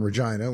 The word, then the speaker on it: Regina: then occasionally I would say no I'm from Regina which would always elicit a laugh and it's true and that is how you pronounce it um but if I said you